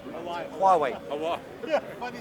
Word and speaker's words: Huawei: Private ones like Huawei, I mispronounced. Huawei.